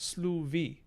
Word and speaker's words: slufi: Although, I guess it would be pronounced sluvi, because we have allophonic voicing of fricatives in between vowels, just like Old English.